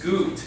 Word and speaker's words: gut: Now it's spelled like gut. But it's gut. Because remember, the U makes an oo sound.